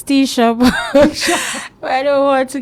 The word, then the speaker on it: Techa: Teacher. Techa, Techa, everything. No. I accept all, but the I best stay with pronunciation is Techa. But you know me, you can't do teacher.